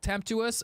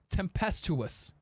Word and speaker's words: tempestuous: right uh oh no it's it's tempestous English is is is complicated some tempestuous is temp tempestuous tempestuous okay temptest tempestuous tempestuous okay